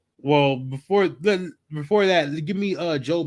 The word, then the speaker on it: Job: Job. Sidebar. I used to when I was coming up, right? I used to pronounce it job all the time. Like it's job. But it's really Job.